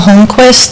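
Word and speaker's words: Holmqvist: My name is Holquist. The last name is spelled H O L M QV like in Victor I S T.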